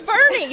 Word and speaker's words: Boerne: probably Kad 12 and they said Bernie and I was like oh it's Bernie so we've been we've been correct since we came to Texas but that's probably been